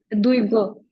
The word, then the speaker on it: Duygu: How do you pronounce your first name? It's Duygu.